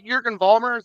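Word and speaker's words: Jürgen Vollmer: great time right so they they meet uh Jurgen Vollmer that's how you pronounce his name yes yes they meet Jurgen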